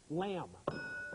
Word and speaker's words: lamb: were looking for was b b at the end of lamb is silent here's your next here's